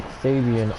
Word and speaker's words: Sabian: I can see out on ringside that Nicole Sabian, yes, we're going to be calling her Sabian, although both ring announcers and even the production team managed to get her last name wrong.